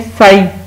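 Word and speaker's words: sigh: यह साई, अब देखें साई का मतलब मीनिंग होता है आह भरना, इसमें जी एच साइलेंट है।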